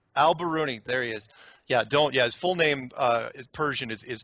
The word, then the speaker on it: al-Biruni: A: al-Biruni. M: al-Biruni, there it is. Yeah, his full name is Persian, it’s tough to pronounce.